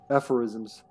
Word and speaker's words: aphorisms: Aphorisms.